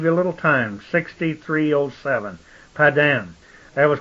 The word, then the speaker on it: Pada: They say Pada, P-A-D-A, and that's pronounced Pada, a prime root meaning to retrieve or deliver.